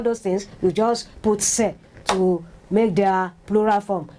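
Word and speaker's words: ces: that they have explained SE said it is pronounced say o x in French that's the spelling that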